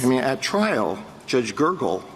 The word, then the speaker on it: Gergel: I mean, at trial, Judge Gergel, is that the correct pronunciation of his name? Gergel. It is Judge Gergel, yes.